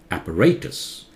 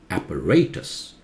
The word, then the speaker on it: apparatus: So British pronunciation is different from American. British is apparatus. Apparatus. American, apparatus.